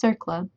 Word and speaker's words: CERCLA: Finally, the Comprehensive Environmental Response Compensation and Liability Act, abbreviated CERCLA and pronounced CERCLA, sometimes called the superfund law, provides a funded program to clean up the nation's polluted sites.